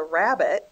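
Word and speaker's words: rabbet: picture frame molding has what is called a rabbit which is spelled r a BB e t T this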